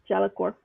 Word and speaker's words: Jellicor: Jellicor. So the E Fix helps has you to been remember how to pronounce it.